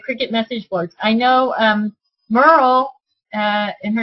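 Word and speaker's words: Myrel: I know Merle, and her name is spelled M-Y-R-E-L, is a Cricut expert.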